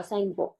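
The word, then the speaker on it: Tsangpo: यारलैंग सांगपो, सांगपो river आपने सुना होगा, सांगपो टी साइलेंट है, सांगपो रिवर.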